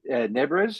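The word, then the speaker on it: Nebres: And that one's inked by Brian Boland, Rudy Nebrez. Is that how you pronounce it?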